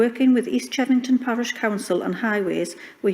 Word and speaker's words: East Chevington: I think from what Councillor Dickinson said, it might have answered my question, but I was just checking that East Chevington, that's how it's pronounced, they're happy with this altered proposal.